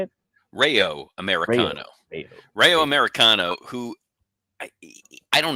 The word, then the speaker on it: Rayo Americano: Rayo Americano.